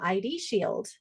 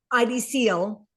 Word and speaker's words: ID Seal: What about I can also offer them ID shield. It's ID shield, right? ID seal. Seal. Thank you. I know I say it wrong every time.